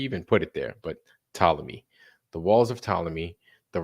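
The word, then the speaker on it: Ptolemy: walls of pamy right the p is silent why you even put it there but talmy the walls of tmy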